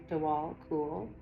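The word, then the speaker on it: Djwal Khul: Dwal Koul, pronounced Dwal Koul, also known as the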